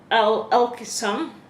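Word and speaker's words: Alkimos: on a lot of bikes number eight is alkisome it's spelled a-l-k-i-m-o-s maybe you know what that is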